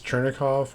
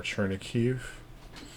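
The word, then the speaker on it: Chernihiv: There's different ways of pronouncing this. Chernikov or Chernikiv, and then Kyiv.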